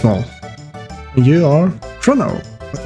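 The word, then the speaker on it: Marle: I think it's pronounced Marl. Marl. It's Marl.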